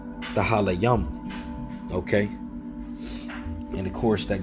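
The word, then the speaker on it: תהלים: All right, and it's when you go into the book of Psalms in the Hebrew, it's pretty much pronounced Tahalayam.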